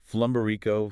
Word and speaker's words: Flumberico: It's pronounced flumber rico.